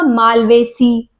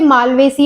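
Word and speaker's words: Malvaceae: मिलेंग उनमें ना आपको जब आप उनको प्रोनाउंस प्रोनाउंस करेंगे तो आपका एसी आएगा लास्ट में जैसे माल्वेसी और सोलेनेसी ठीक है सेकंड अगर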